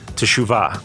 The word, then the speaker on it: teshuvah: life is something called teshuva you might hear it pronounced Shuba or chuhwa because it's like a t sound and SH sound really close together like Chu actually it's